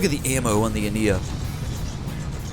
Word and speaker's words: Ania: It's the author of the ship, who's also the author of the custom campaign, Abie, told me the Ania is actually pronounced the Ania, I believe. The Ania.